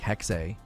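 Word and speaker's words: Hexe: of running with it I thought it was hex not hexay they were pronouncing it hexy or hexay h-e-x-e the final e is being pronounced I believe is like hexay so my less plugged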